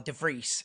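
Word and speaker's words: de Vries: like an underdog so if everyone's right enough to freeze because or DeVries if you want to say it properly everyone's writing off to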